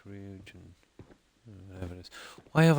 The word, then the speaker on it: Ryujin: Okay, that's how it's pronounced. Ryujin.